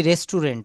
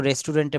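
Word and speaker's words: restaurant: আমরা যেমন বলি রেস্টুরেন্ট। আমরা বলি না যে আজকে দুপুরে আমরা রেস্টুরেন্টে বাইরে খাব। এটা রেস্টুরেন্ট না। এটা বলতে হবে রেস্টরন্ট। এটা বলতে হবে সঠিক উচ্চারণটা হবে রেস্টরন্ট।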